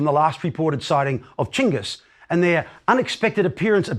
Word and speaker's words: Chinggis: Chinggis, by the way, is the preferred way of pronouncing the great Khan's name by Mongol specialists today. It is a more accurate rendering of his written name than Genghis.